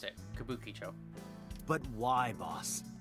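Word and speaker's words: Kabukichō: Oh, that's how you pronounce it. Kabukicho.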